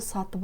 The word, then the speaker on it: сатып: Анау мынауды сатып алдым. Анау мынауды сатып алдым. В слове «сатып» «п» произносится как «б».